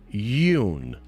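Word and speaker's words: Yeun: need to be court-martialed it's pronounced Yoon Steven Yoon okay cool thanks for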